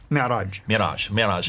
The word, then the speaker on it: Mi'raj: Mi'raj.